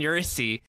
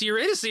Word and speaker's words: Eurydice: It has a lot in common with the Greek tale of Morpheus and Eurydice. Wow, you did it. You pronounced Eurydice right.